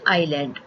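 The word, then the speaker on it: island: करना होता है है इसका सही प्रनंसीएशन है आयरलैंड उपवीत को आप इंग्लिश में बनेंगे आइए समुद्र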